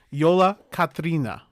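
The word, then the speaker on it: Jólakötturinn: It's Yola Katrina. Yola Katrin. I'm sorry. Okay. That's how they say it in actual Iceland.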